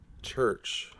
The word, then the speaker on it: VRCH: Church. Or a Sacramento Doom band. 20-minute songs and shit like that, you know. That's a badass name for a band. And it's spelled funny like CH. Oh, VRCH.